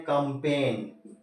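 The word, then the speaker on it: campaign: क्या पढ़ रहे हैं कंपेन जी साइलेंट कंपेन देखें आप दो सिलेबल में पढ़ रहे इस वजह से यह साइलेंट नहीं हुआ नहीं तो इसकी आवाज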